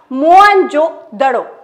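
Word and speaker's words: मोहनजोदड़ो: में स्थित है मोहन जोद शब्द का सही उच्चारण है मोन जो दड़ोस राखला दास बनर्जी ने 1922 में की थी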